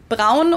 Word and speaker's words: Braun: we do in Germany, Braun or Brown with an American accent, which would have made sense because Braun is the German word for the color brown.